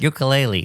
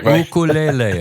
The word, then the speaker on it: ukulele: It brings to mind the Hawaiian phenomenon of the ukulele, which is not ukulele. That's the way we say it. But the islanders say ukulele. It's the correct pronunciation.